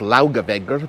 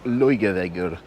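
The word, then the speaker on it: Laugavegur: street of the city it looks easy to pronounce laughable but i've been told it's something more like luige i hope i did that right it's impossible thank god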